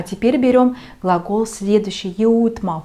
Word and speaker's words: jõudma: Да, немножко сложновато произносить этот глагол. Там и йодь, там и там и у. Jõudma, jõudma.